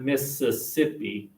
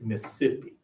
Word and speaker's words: Mississippi: use southern girls here you eliminate a syllable so it's not Mississippi its Mississippi sippy-sip not Alabama say it